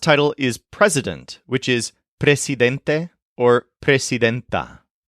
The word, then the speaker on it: presidente: is President which is Presidente or presidenta make sure to keep the S hard and unvoiced when you pronounce this presid Presa for example she